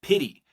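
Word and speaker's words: PITI: I want you to think of pity, right? Think of Mr. T. I pity the fool, right? So P, but it's spelled differently.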